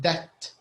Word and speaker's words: debt: yeah this is in debt and keep in mind the b is silent so we have to say in that there's no there's no b sound by the way there